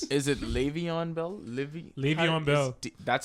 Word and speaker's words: Le'Veon: getting him checks is it Le'Veon Bell Le Le'Veon Bell that's how you say it is is